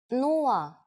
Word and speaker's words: нула: It's similar to one of the versions of zero in English, but with a different pronunciation. Нула.